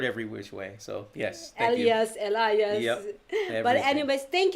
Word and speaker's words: Elias: i can pronounce your last name and i pronounce it right right yeah i've heard every which way so yes elias elias yes but anyways thank you so much